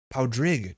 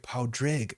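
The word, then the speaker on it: Pádraig: Powdrig. Drig rhyming with rig. Powdrig. Okay, thank you. Powdrig o Roosh. Powdrig. Okay, I got it.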